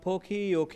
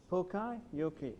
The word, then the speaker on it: poka-yoke: This is actually a concept by the Japanese, which came up with this term called poke-yoke. I don't know whether I pronounced it right. P-O-K-E. How is the correct pronunciation? Poka-yoke.